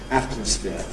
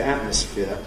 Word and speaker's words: atmosphere: Also, before nasals, if we have a word like atmosphere, certainly that's my normal pronunciation. I have a careful variant, atmosphere, but I don't normally say atmosphere with nasal release noise. I normally say atmosphere with a glottal stop.